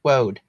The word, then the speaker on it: woad: france blue whoa and i think they pronounce it woad wood woad woad like the road and you can't really